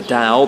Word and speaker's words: Dao: You can read the the Dao Ding, the Ta-ing, however you want to say it. I'm pretty sure it's pronounced Dao. That's how it's meant to be. But in English, it's written T AO.